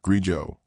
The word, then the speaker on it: grigio: It's Italian. Pronounced Grijo.